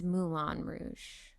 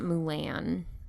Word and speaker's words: Moulin Rouge: It's Moulin Rouge. Not Mulan. Is it Moulin Rouge? Is the Disney movie Mulan as well? No. Yes. But spelled differently. I know it's spelled differently, but it's pronounced the same.